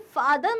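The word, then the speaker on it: farther: फादर मतलब पिता एंड फादर मतलब दूर स्पेलिंग में आर आ रहा है लेकिन हम उसे प्रोनाउंस नहीं करते तो साउंड सेम हो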